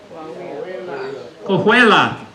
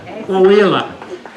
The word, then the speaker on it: Coahuila: Somebody pronounce this for me. Coahuila. Coahuila.